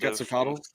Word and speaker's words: Quetzalcoatl: And you don't pronounce TL at the end Quetzalcoatl? Quetzalcoatl? Quetzalcoatl? At the end, it's like a tick. You get a k at the end. You have to kind of like lift your tongue and do an S.